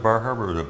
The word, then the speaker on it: Bar Harbor: Is that how you pronounce Bar Harbor or is it Bar Harbor?